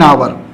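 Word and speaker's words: hour: C came back after an आवर, अब यहां पर यच साइलेंट है, यच क्या है, साइलेंट है, तो आवर, यहां पर आवर इसका पढ़ा गया, आवर, आवर पढ़ा जाता है इसको, तो आ हिंदी में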